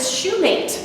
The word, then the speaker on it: Shumate: Shumate, if you'll think every shoe has a mate. I get Shumate, I get Shumate, I get all kinds of crazy things. Anyway, I am Shumate.